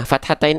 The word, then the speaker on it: fathatain: Nah, kalau baris atasnya 2, fathatain dibaca dengan bukan hanya vokal A, tapi vokal A dengan konsonan an, jadinya an.